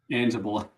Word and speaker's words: Anzalone: Anzalone. Gotcha. I've been saying it wrong this whole time. Anzalone.